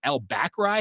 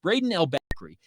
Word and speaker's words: Brayden El-Bakri: saw him brayden how do you say that albacry how do you pronounce that well it's brayden l backery he ended up being a really fantastic fullback